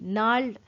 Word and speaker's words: gnarled: वे उसके गठीले, नोटी मतलब गठीले, gnarled GNARLED, नाल्ड। यहाँ पर जी जो है प्रोनाउंसिएशन में वो साइलेंट रहेगा।